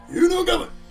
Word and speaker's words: Inugami: The Inugami, I guess, is how you pronounce it. Inugami!